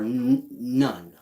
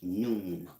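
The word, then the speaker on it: Nun: This is nu or none. I say noon. N-U-N, none. It's pronounced noon.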